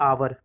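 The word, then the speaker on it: hour: ठीक, तो देखिए मैं करता हूँ, इसे हम क्या पढ़ते हैं, आवर। इसे हम क्या पढ़ते हैं, आवर। हावर नहीं पढ़ते हैं, याद रखिएगा, हम इसे क्या पढ़ते हैं, आवर।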